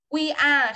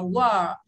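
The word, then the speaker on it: we're: We are không đọc là we are đâu, mà từ này đọc là were.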